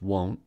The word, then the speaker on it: won't: differently due to their vowel sounds won't is pronounced won't but want is pronounced want so won't has